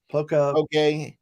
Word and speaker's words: poke: From a, I think I mispronounced it last time. Poke bowl. Poke. Yeah, I called it pack a bowl, but they don't think that's funny.